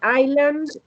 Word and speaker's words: island: Remember, island and the British Isle, no S. You write it, but you don't pronounce it.